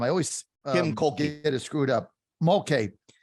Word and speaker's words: Kim Mulkey: I always Kim Mulkey.